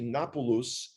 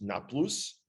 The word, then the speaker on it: Nablus: of course, is what the world knows as Nablus, which actually was supposed to be Napulus, but since the Arabs are not indigenous to the land of Israel, they couldn't pronounce it. So they can't do the P and the B and the, so it's just Nablus, but that's okay.